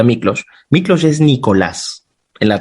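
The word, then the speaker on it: Miklós: Mi padre es húngaro, mi madre es peruana, y Miklos, se lee Miklos, pero se pronuncia Miklos.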